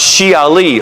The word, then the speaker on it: Shiite: And Ali is the founder of the Shiites or it's actually pronounced Shi Ali or party of Ali.